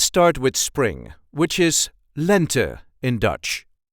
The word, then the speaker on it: lente: with spring which is Lent in Dutch lent the emphasis is on the first part of the word lent Len lent lent the second season